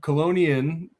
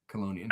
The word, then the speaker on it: Chelonian: So colonian, you see how I said it is is um it's it's a Latin word and ch in Latin is pronounced like a k. So colonian.